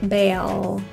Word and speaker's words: bail: mind if I bail watch for the L making sure your tongue is contacting the roof bail cringe it's that feeling